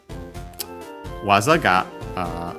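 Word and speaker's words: 技: Then we have waza, we've even studied its kanji, technique, art, skill, move, better for in the context of Pokemon games. Accent on the last syllable, waza.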